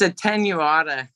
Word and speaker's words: attenuata: How do you say that? Did I say that right? It's attenuata. Attenuata.